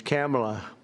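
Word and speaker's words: Kamla: It's Cam, right? Cam as opposed to Com."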